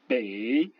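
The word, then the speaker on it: 北: EI, ce qui se prononce comme dans le mot abeille, par exemple le mot qui veut dire le nord, bei.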